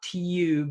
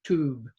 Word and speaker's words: tube: Okay, here's one, a long U with no Y sound, okay? It's not tube, it's just tube.